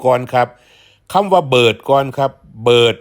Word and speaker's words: เบิด: ครับ ต่อ ไป ครับ เบิร์ด คือ กัน แต่ ว่า ออก เสียง ว่า เบิด ลอง ว่า ดู ครับ เบิร์ด คำ ว่า เบิร์ด